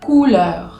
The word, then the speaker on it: couleur: La O y la U hacen el sonido U. U, como si fuese una U en castellano. Entonces, por ejemplo, la palabra couleur.